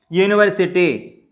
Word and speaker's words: university: When the noun begins with the vowel letter but sounds like a consonant, Example you see, university.